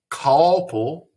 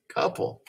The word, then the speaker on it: couple: patterns i don't say call pull and i don't say calpol that's like a short u sound ah couple well it's in the